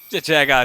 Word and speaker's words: Jet Jaguar: like Devil jet Jaga Jet Jaguar jet Jaga is how it's pronounced though because the to